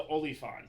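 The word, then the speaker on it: oliphaunt: you want to say it right, it's the Oliphant.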